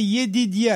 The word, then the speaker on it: Yedidia: Alors, son nom était Yedidia.